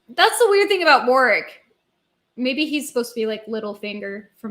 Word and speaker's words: Warwick: So they're saying it as if it's spelled Warrick, but anyway.